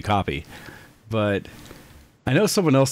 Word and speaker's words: Kopii: knowing what Kopii is that it's between hearing Kopii, other people saying Copster, people saying, what were the other ones? Just ways of pronouncing in general what I believe is a simple name that you have.